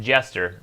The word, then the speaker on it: Geoster: The Geoster says, I know it doesn't matter much, but it's pronounced Jester. Well, I mean, it's not spelled Jester.